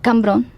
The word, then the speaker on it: Cambrón: ¿Y cómo se pronunciaba originalmente entonces? Cambrón.